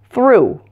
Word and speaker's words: through: pronunciation than the others, and that's through. This word sounds exactly the same as through, T-H-R-E-W. The past tense of throw.